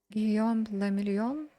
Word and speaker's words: Guillaume le Million: If it doesn't rhyme, you're not pronouncing it right. Guillaume le Million? Guillaume le Million.